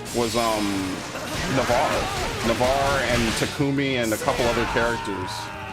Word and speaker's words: Takumi: um navarre navarre and takumi and a couple other characters it's takumi by the way i never say it right i say it the english way oh god i'm on